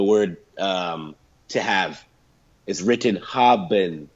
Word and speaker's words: haben: So, for example, in German, you would say the word to have is written haben, right? But you would pronounce it faster, haben, like, haben.